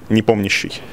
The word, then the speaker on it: Nepomniachtchi: In Russian, it sounds like "NEPOMNIACHTCHI". It's in Russian. Okay, so the stress on the POM. Yeah. Okay, sure. Say it one more time. NEPOMNIACHTCHI.